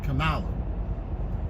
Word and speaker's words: Kamala: Her name is, I think, Kerry Washington, to just let people know how to pronounce Kamala.